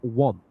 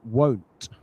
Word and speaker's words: want: Uh, you I think you're saying the word want, like I want to do something, but you pronounce it won't.